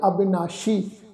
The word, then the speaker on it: अविनाशी: अविनाशी ससे दे पैर विच साध संगत बिंदी लगा के पाठ उच्चारण करांगे अविनाशी, जिसका नाश नहीं हो